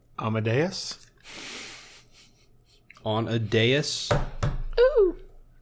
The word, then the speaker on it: dais: On a dais? Ooh. Or a dais? D-A-I-S. It's a dais. Okay. I've always pronounced it dais. I think you can say it either way and they accept it.